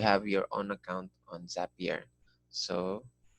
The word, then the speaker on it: Zapier: your own account on zapier so it's up here we try and read happier so that's how it's pronounced this is your zap